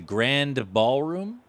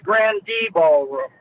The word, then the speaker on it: Grande Ballroom: album it was recorded in Detroit at the Grand Ballroom across two days what do you recall about those shows well it was the Grande Ballroom Randy that's where we pronounced it the menu